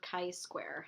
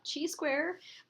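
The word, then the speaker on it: chi-square: going to go over Kai square and it's not Chi square or chai square um in statistics we pronounce it Kai Square we're going to go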